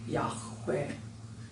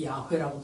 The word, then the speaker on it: 야훼: 아마 사막에 흙먼지가 많으니까 이 목 구멍에서 나는 발음이 많을 겁니다. 야훼.